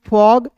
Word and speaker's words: fog: नियम एक बार और समझ लीजिए कि किसी वर्ड्स के बीच में ओ दिखेगा तो ओ का उच्चारण औ के रूप में।